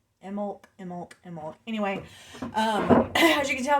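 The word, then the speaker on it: Imbolc: Um, it is Imolk. It's hard not to pronounce the B, but my friend Beth says you're not supposed to. So Imolk. Imolk.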